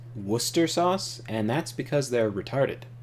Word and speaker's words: Worcester: say whatever you want British people claim that uh W Worchester sauce is Worcester sauce and that's because